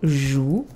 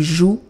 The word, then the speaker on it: jouent: On va dire qu'ils jouent. Remember, you write ENT, but you don't pronounce it. Ils jouent au foot.